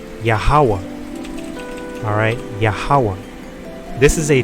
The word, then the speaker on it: YAHAWAH: And these are the Hebrew letters right here for Yahawah. This is YAHAWAH. That's how you would pronounce it. Well, you would pronounce it Yahawa, because that last letter